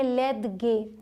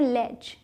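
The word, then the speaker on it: ledge: तो एल ई डी जी ई अगर इसे आप मतलब अपने तरीके से बनाएंगे तो आप बोलेंगे लेद गे लेकिन इसे पढ़ते हैं लेज लेज। ठीक है? ज इसका ज लेज यह जहां भी आएगा वर्ड में इसे लेज ही बोलेंगे।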